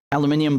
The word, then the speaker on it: aluminium: the floor sleeping with these aluminium blankets i know americans say aluminum um what what is